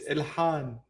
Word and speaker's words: Ilhan: It's Ilhan.